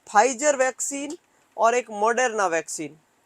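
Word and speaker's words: Pfizer: नाम है फाइजर, P silent.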